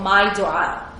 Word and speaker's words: My Dua: And that is that you get your phone and you download an app called My Dua. It's spelled M-Y-D as in David, U-A-A.